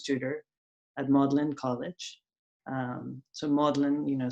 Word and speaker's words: Magdalene: at modeling college so modeling you know spelt magdalen we pronounce it in this weird way and we have a